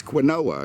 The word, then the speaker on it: quinoa: It's quinoa.